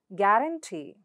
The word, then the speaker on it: guarantee: Then guarantee, guarantee, guarantee. So again, this is stressed. So the final syllables are stressed.